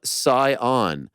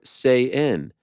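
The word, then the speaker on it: Saiyan: you pronounced it correctly it is pronounced super saion not super say in do what you will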